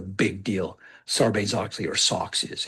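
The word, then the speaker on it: SOX: The Sarbain Oxley Act is often called socks. Take the S and the ox socks for short.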